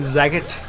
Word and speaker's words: Zagat: Yo, Jonathan Zagat. I think it's pronounced Zagat, like Sagat.